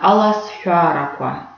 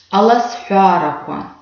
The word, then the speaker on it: Аласфяраква: Значит, звук «х», который выделен голубым, мы видим, что пишется он как «х», палочка «в». Чтобы нам легче было запомнить, как именно произносится этот звук, у нас есть слово-подсказка «трава». «Хра».